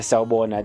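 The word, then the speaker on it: Sawubona: know and how you how you pronounce it it's how you spell it in in zulu it's uh s a w u b o n a that's uh saubona that's the that's the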